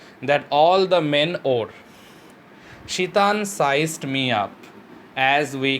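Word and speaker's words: Tsetan: by the name of Shitan, you will find it where T is silent in his name, they too will accompany the author.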